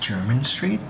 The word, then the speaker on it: Jermyn Street: I went to Flores, London yesterday in Jermyn Street, and I don't know why, but like, it spells like Jeremy Street, but it's like it's pronounced German Street.